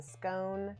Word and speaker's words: scone: deep fried ah okay rhymes with stone because if it doesn't have it's a scone stone of the scone